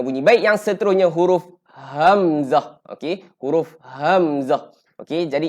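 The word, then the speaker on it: همزة: Baik, yang seterusnya huruf hamzah. Okey, huruf hamzah. Okey, jadi ejaan huruf hamzah ni dia ha bulat. Jadi kita kena sebut dalam keadaan bunyi dia bunyi bis. Hamzah. Okey, jangan amzah elakkan.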